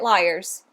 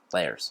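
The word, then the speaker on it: Lairs: apparently I can't read I keep calling it Liars yeah it's layers it's layers a a l a i r s and this this is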